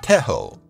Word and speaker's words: Tejo: Colombia has a traditional sport called Tejo <pronounced Teh-ho> which sparks a lot of passion in both locals and foreigners, pun intended.